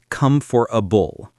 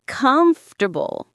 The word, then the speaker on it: comfortable: When I started, I couldn't pronounce comfortable. I said, "come for a bull." It's comfortable. Yes, and I only learned it after hearing it many times.